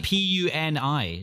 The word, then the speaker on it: Puni: So this is Puny. Is that how you say it? I think so. Puny? And that's Puni, not like saying something's puny, like it's weak.